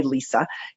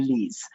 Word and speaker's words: Lise: It's spelt funny in the United States. Most people call me Lisa. In Canada or in Europe, most people call me Lise.